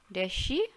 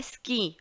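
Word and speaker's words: Ski: दोनों के प्रोनाउंसिएशन में ज़मीन आसमान का अंतर है। डेयर शी और इंग्लिश हो जाता है स्की, और उसको जो कला होती है वो होती है स्कीइंग, स्कीइंग करना, ठीक है।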